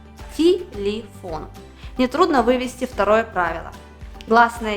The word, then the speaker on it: телефон: нас есть три слога первым телефон последний слог ударный а это значит что он остается о первые две гласные е оказались без ударения но слышим мы не звук е а звук и в обоих слогах телефон нетрудно вывести второе правило